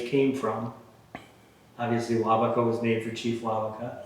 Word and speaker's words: Waubeka: Waubeka? Waubeka, yes.